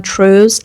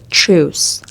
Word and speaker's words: truce: See uh th h and c has different pronunciations in English.